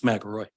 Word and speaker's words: McElroy: And I'm sorry if I said your last name wrong, because everybody's saying it different. It's McElroy.